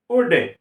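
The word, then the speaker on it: would: आ रहा है तो जब एल के बाद डी आएगा तो एल का उच्चारण हम नहीं करेंगे एल का उच्चारण नहीं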